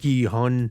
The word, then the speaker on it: Gi-hun: We already sort of knew what Gi-hun, that's how you say his name, 456, basically, what his